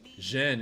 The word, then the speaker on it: Zhen: And then Zhen is just almost like Shen, but you're pronouncing the I less strongly.